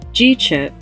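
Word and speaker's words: GCHP: co-founded the gapa community hiv project pronounced g-chip gapa community hiv project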